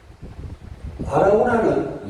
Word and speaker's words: 아라우나: 근데 아라고나하고 오르난하고 이름이 다르게 나옵니다. 아라고나는 여부수식 발음이고 오르난은 히브리식 발음입니다.